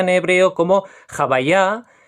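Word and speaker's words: הוי״ה: el que estáis viendo en pantalla, que se pronuncia en hebreo como Jabayá y en yiddish como Jabaye.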